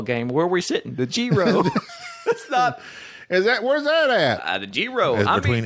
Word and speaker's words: gyro: say everything mmm and what I often have called eros or gyros he says mix those two together it's Gero Gero that's what he said